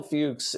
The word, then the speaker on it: Fuchs: am I pr and I'm pronouncing his last name right you are yeah he was against doing series television Michael Fuchs by the way was